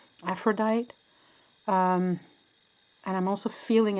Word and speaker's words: Aphrodite: Okay, I'm hearing angel of love and I'm also hearing Aphrod Aphrod Aphrodita is how we pronounce it in Norwegian. Aphrodite.